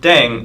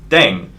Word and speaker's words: ddaeng: playing with language now the pronunciation of deng is similar to thang which is the slang of thing in english last but not least